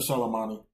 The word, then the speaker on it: Qasem Soleimani: Or Soleimani. That's how you pronounce Soleimani.